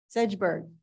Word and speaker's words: Segerberg: two applicants um segerberg how do you say your last name sedgeberg sedgeberg and then